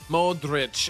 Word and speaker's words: Modrić: Modrić.